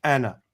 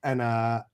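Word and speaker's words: أنا: And is not pronounced as a long vowel. Anna.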